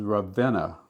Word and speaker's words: Ravenna: But also, my name was Ravenna, Revenna, which was how people pronounce things in the South. They would just kind of lazy tongue. Instead of Ravenna, they would just say Ravenna.